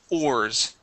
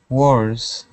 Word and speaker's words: ores: okay Wars okay uh you're saying War okay pronouncing a w there at the beginning okay this is different we're going to start off with an o sound o or ores okay ores there you